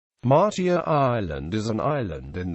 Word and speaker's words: Matia: Matia is correctly pronounced Matia, but is more often called Matia by the locals.